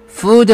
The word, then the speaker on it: food: A food safety food 할 때 발음은 장모음이죠. 만약에 짧게 발음하면 food 음식이 아니라 풋 발처럼 들릴 수가 있습니다.